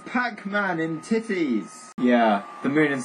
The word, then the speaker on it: Tethys: It's actually pronounced titties.